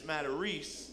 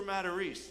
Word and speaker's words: Matarese: The guy on the other end goes, Matarese? Oh, no, Matarese. I'm like, what? You ever been told you were saying your own name wrong? No? He's like, no, that ain't a Matarese, it's a Matarese. Freaking launches in the air, Matarese.